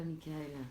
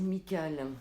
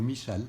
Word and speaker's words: Michal: D'accord, donc ce n'est pas Michael. Non. C'est Michal. Ou Michal, on prononce comme on veut.